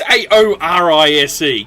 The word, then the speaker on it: Saoirse: Well, it's Saorise. Come on, Saorise. It's Irish.